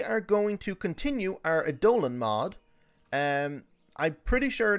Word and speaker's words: Eidolon: going to continue our a dolan mod um i'm pretty sure now the actual pronunciation is a dolan not dolian or idolian it's a dolan so i'm going to